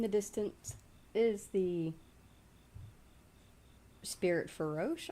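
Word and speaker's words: Farosh: that in the distance is the Spirit Feroche, I believe is how it's pronounced. Feroche.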